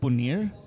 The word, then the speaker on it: Punir: how to pronounce that the album's name is punir okay not paneer but punir uh it's released by